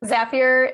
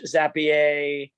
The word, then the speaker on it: Zapier: pronunciation of zapier because it is zapier it rhymes with happier i've heard plenty of